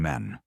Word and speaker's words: me: The gods, they say, once walked among men, and then withdrew. But before they vanished, they passed down symbols, not miracles, mechanisms. The Mi, pronounced Me, were not mere concepts.